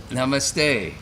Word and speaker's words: namaste: is yeah thank you namaste namaste yeah it rhymes with no money good very good so